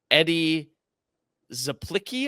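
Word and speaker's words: Eddie Czaplicki: It is, I'm going to butcher his name, Eddie Zaplicki, I think is how you say it.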